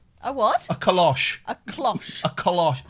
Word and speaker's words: cloche: minutes, someone knocks at the door with a kalosh. A what? A kalosh. A cloche.